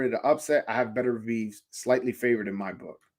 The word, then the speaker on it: Beterbiev: It's Beterbiev. Please say it like that. Some people say Beterbiev. I don't know which way to say it, to be honest with you.